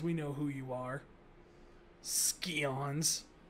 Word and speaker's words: Scions: Scions. It's pronounced scions.